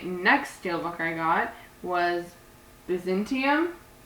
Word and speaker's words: Byzantium: And then the next steelbook I got was Byzantium. I always want to like emphasize the Byzant part, like Byzantine, like the Byzantine period. Byzantium.